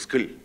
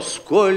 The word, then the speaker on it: сколь: Вы совершенно скомкали слово «сколь». У вас получилось «скль». Это невозможно, понимаешь? Помните, о, да, что? О, сколь легко и сладостно. О, сколь легко, легко и здесь есть полногласное ударение.